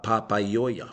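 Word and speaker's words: Papaioea: The original name for Palmerston North, pa-pa-i o ea, pa-pa-i-oia. 5 vowels in a row, doesn't matter. Each one has its own syllable.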